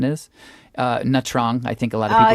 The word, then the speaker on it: Nha Trang: We went to Nha Trang, I believe the pronunciation is. Nha Trang, I think a lot of people say, right?